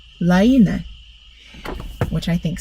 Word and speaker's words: Laine: Maria told me that Hannah says this is pronounced Laine. Hannah, am I saying that right? I hope so. I've been saying Lane magazine. It's Laine, which I think sounds cool.